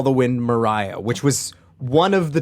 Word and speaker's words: Maria: normally rate Maria but for whatever reason is pronounced Mariah and that is where